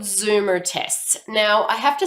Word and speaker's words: Zoomer: Now, I have to spell it because as an Australian living in the US, I say Zoomer. But you guys would say Zoomer, which is Z-O-O-M-E-R. And even if I try to pronounce it, it doesn't come out right.